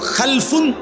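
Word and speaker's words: خَلْفٌ: দুই রকম হয় আরবিতে একটা হল খালফুন আরেকটা হল খালাফুন একই শব্দ শুধু উচ্চারণের মধ্যে একটু ভিন্নতা মাঝখানে একটা লাম আছে। এই লামটার মধ্যে যদি সাকিন হয় তাইলে হল খালফুন। আর যদি লামের মধ্যে জবর হয় তাহলে হল খালাফুন। আরবি শব্দ।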